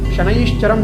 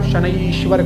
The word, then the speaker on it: शनैश्चरम: शनैश्चरम, व्यास जी ने बहुत सोच विचार कर ही शनैश्चरम लिखा है पुस्तक में, तो आपको इसमें चेंज करने की आवश्यकता नहीं कि आप शनैश्वर कह दें।